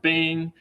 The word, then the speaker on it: bang: And then the bang operator, this exclamation point, often pronounced bang.